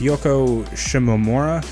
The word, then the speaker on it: Yoko Shimomura: I forget how to pronounce her name. It's Yoko Shimomura.